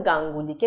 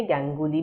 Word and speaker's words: গাঙ্গুলি: যেমন গাঙ্গুলিকে গ্যাঙ্গুলি বলছি আমরা, রায়কে রে, দত্তকে দত্ত,